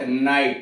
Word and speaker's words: night: परंतु जब रोमन का प्रभाव आया इंग्लैंड के ऊपर तो GH साइलेंट हो गया। तो यह पढ़ा जाए पहले, अब GH का उच्चारण पहले होता था तो बाद में नाइट कर दिया गया, MIGH माइट कर दिया गया, ऐसे करके।